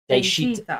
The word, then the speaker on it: Daechwita: This is, was I pronouncing that close to right? Daechwita. Daechwita. Daechwita. I was close.